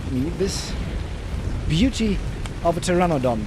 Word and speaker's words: pteranodon: So, but then Glitcher Palooa, as nice as he is, decided to gift me this beauty of a pteranodon. The P is silent.